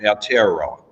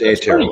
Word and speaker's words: Aotearoa: I used to call it Aotearoa, but it's Aotearoa.